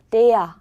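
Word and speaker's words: der: 발음 나는 애였잖아요. 그렇다고 데라고 안 읽으셔도 돼요. 데야 정도로 읽어주시면 돼요.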